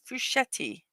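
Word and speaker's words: Frusciante: The Red Hot Chili Peppers in 2012 John fusetti 54 years old today and yes that is the correct pronunciation I looked it up because that is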